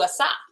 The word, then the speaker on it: Asa: And towards the end of the night, I changed it to Asa. All right. So then Asa made a proclamation throughout all Yehuda.